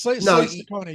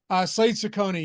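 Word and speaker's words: Cecconi: Yeah, this pitcher for Arizona, Slade Ciccone, I think that's how you pronounce it. He's right. It is. It's Slade Ciccone. Yeah, my fault. I was looking at Arizona against Block. Slade Ciccone.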